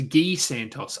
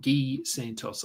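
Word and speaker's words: Gui Santos: on from him um oh so G so rhymes with key so it's gee Santos okay thanks ran sonon ghee Santos I have to remember that it's gee I don't know how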